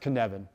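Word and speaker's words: Cynefin: And the first one is the Kinevan framework, and it's pronounced Kinevan.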